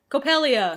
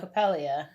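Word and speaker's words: Coppelia: our daughter co copella co copella c o p p e l i a yeah copelia copelia they call her pel so copelia is your daughter you're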